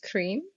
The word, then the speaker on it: Cream: Um so hello everyone, my name is Cream. Um just like ice cream um which is interestingly would rhyme with Teemo um in Thai.